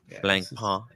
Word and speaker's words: Blancpain: no no no n the N at the end is silent it's a silent n blank PA just another one of